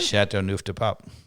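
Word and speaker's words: Châteauneuf-du-Pape: How do you pronounce it, Dave? Chateauneuf De Pape.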